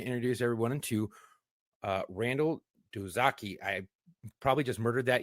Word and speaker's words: Doizaki: How do you pronounce it? Doizaki.